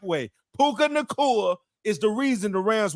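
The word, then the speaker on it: Puka Nacua: what we could do now now we can pronounce it the correct way puka Nur is the reason the Rams were even in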